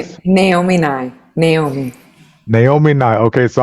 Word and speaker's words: Naomi Nye: Pronounce your Sure, name my for name us. Naomi Nye.